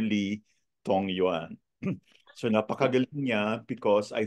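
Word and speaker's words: Li Dongyuan: Lee dong dong yan Okay you pronounce it as Dr Lee tong Yuan so napakagaling niya because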